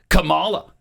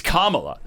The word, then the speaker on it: Kamala: Well, you pronounce it Camala and it's Kamala.